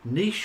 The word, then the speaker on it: niche: model that's the secret niche your business model tightly now we call it niche in this country americans call it niche um i don't know what's the right pronunciation but the trick here